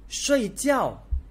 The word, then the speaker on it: 睡觉: So in Mandarin, we pronounce as fourth tone. 睡觉, 睡觉.